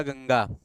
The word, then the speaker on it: गंगा: जैसे आपने यहाँ लिखा गंगा, तो गंगा में अनुस्वार का उच्चारण, अनुस्वार का उच्चारण अंगा है।